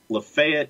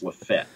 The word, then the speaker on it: LaFayette: lafayette ramblers or the lafayette it's not lafayette ramblers it's the la fayette ramblers or if you're from the county it's lefet lafayette or lafette depending on how fast you speak i guess yeah and